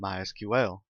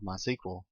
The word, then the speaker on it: MySQL: as you can tell i've been calling it mysql that is the correct pronunciation however it is also commonly called mysql if you hear it called that don't be